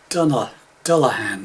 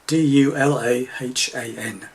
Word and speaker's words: Dulahan: Music from a Celtic band called Dulahan. I think that's the right pronunciation. D-U-L-A-H-A-N, Dulahan.